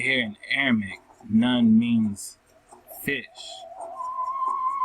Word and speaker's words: Nun: It says Nun, right? Nun, that's how you say his name, right?